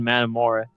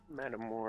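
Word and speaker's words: Metamora: There's a few YouTubers on uh YouTube now who actually like want to investigate that the town's called Madamora. Madamora. How do you spell that?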